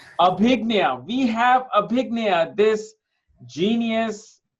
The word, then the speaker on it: Abhigya: I'm sorry I I I'm want to pronounce your name right. How do you say your name again? Abiga. Abhignia.